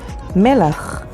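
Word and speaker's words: מלח: and spelled with me which means full and spelled with mem lamed alef melach which means salt and spelled with mem lamet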